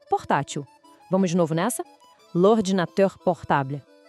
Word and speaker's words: l'ordinateur: Em francês, a palavra é l'ordinateur. A pronúncia parece difícil, mas não é. Vamos lá. L'ordinateur.